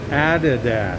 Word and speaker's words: Adidas: Now this is a store similar to one we have in the States, but the locals pronounce it Adidas.